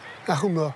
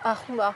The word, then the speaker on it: homard: Arouma. Arouma. Ah ben voilà. Pluriel des roumards. Là, c'est un terme d'origine scandinave, Umar, et en plus avec un H tellement aspiré qu'il en devient un R.